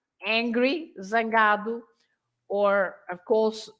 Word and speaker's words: zangado: But of course, you pronounce the Z as a normal Z if it's at the beginning or in the middle of the word, like zangado, angry, zangado, or of course zebra,